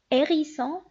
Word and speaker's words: hérisson: Un H muet est un H qu'on ne prononce pas. On l'écrit mais on ne le prononce pas. C'est-à-dire, on donne un exemple: habillé, hérisson, haricot. Si vous remarquez ici, j'ai pas prononcé la lettre H.